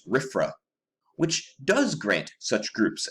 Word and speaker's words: RFRA: passes the Religious Freedom Restoration Act, or RFRA, pronounced RFRA, which does grant such groups a religious exemption.